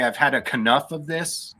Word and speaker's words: Kanouff: The pronunciation of your last name is up for debate. So how would you prefer it be pronounced? Because one of them is your German ancestry and the other one is... I would say Kanouff.